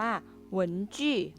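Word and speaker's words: 文具: เครื่อง เขียน นะ คะ ภาษา จีน ออก เสียง ว่า เหวิน จี้ wengie เครื่อง เขียน นะ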